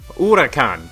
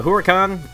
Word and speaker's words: Huracán: I looked it up it's the Lamborghini uran that's how it's pronounced okay and so um that's uh that's what we're going to build it's called the huran or urakan and it's it's a